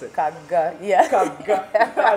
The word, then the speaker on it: Kagga: Now, it's Kagga, right? Kagga. That's how they pronounce it. Kagga, yeah.